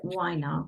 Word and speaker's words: Winer: was fine weiner like a glass of wine with an R fine wine okay fight